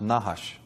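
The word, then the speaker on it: נחש: semetic for serpent is nahash of course they didn't use vowels so it's just nhsh but that is pronounced nahash and it actually means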